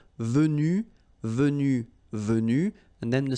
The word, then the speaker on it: venus: So basically you get the pronunciation venu, venu, venu, and then the same thing, venu, you don't pronounce this final Venu, you don't pronounce the final S.